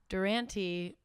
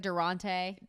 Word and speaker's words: Durante: my bias perspective but no one could ever pronounce it like Durante yeah and that is I